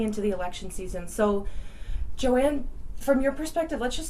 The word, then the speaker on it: Joan: My first name is pronounced Joanne, but it's spelled Joan, Joan.